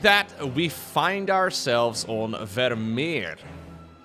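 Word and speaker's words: Vermeer: And just like that, we find ourselves on Vermier. I'm going to pronounce that in the most Dutch way possible. Okay, Vermier. In Dutch, we tend to roll every R.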